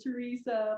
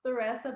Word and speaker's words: Theresa: grace and i know everybody called me teresa but it's pronounced theresa but it's okay teresa